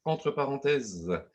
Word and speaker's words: (Entre): Donc, présentation du réseau entre parenthèses qui s'écrit entre avec des parenthèses et qui se prononce entre parenthèses.